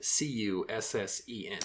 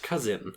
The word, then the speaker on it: Cusson: And you gotta spell that, because it sounds like you're saying living with her cousin. Well, we don't know. I know, no. Desmond Cusson, Cussen. Yes. So just wanted to clarify. Not cousin, right.